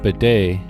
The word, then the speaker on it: bidet: You know, I think it's funny that the word bedet comes from the word pony in French, which explains why the T is silent.